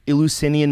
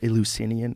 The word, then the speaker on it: Eleusinian: So, like, how do you say, what is the Eleusinian mysteries? I think that's how you say it. Yes, Eleusis. It's a weird word, though. Eleusinian.